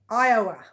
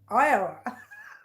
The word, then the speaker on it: Iowa: Iowa. Yes, hello, Diane. We had a discussion last week. I could not say Iowa. I was saying Iowa, but it's Iowa.